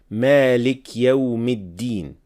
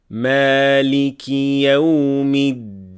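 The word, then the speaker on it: مالك يوم الدين: many beginners, which is when learners turn the kasra under the word maliki and yawmi into a sukun without realizing and say Malik Yawmiddin. Again, this is a major mistake. Kasra has to be pronounced clearly. So we would say Maliki Yawmiddin.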